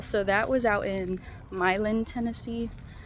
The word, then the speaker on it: Milan: Um, also this weekend, well, so that was out in Milin, Tennessee. It's spelled like Milan, but I was told that if you pronounce it like that, people are going to give you a hard time.